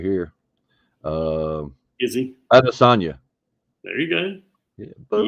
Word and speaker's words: Adesanya: Adesanya. That's right. Adesanya. Damn. All these freaking pronunciations sucks.